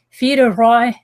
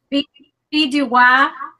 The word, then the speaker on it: Fille du Roi: So there's Alberta, British Columbia, British Home Children, Empress of Ireland, Fille de Roi. Say it right, Emma? Fille du Roi.